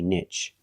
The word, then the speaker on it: niche: better to say Niche we have two pronunciations and they are the same some people say nich and some people say Niche nich is closer to the original pronunciation that is French but in America people say both equally one is not better or worse than the other you